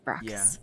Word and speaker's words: Bacchus: I always say Bratchus Station, and I know it's wrong. That's stupid, Bacchus.